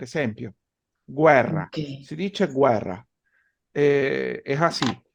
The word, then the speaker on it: guerra: ¿Cómo pronunciarían esta palabra? Guerra. Guerra.